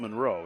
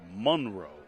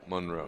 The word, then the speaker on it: Monroe: And I believe that's how you have to pronounce it, right? It's not Monroe, it's Monroe. Monroe.